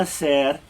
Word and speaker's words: hacer: ¿Qué vas a hacer el sábado? Remember, we don't ever pronounce that H, right?